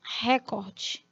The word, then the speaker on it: recorde: de consumo de sanduíches recorde não a pronúncia na língua portuguesa é recorde recorde como verbo no imperativo Recordar Olha aí então Cuidado